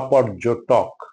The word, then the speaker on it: পর্যটক: পর্যটন বা পর্যটক, দুটোতেই আমরা টকে ওকার করে পর্যটন বলি, পর্যটন না পর্যটন, পর্যটন না পর্যটন, পর্যটন, সেরকম পর্যটক।